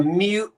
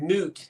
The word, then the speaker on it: moot: Or wait, people say a mute point when they mean moot.